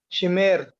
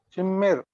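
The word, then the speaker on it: שִׁמֵּר: Very good. Double M. See, pronunciation of this Hebrew word is Shimmer. Shimmer. Shim dash MER. Shimmer. Why? Because that dot in Mem's bosom is called Dagesh Forte or doubling dot.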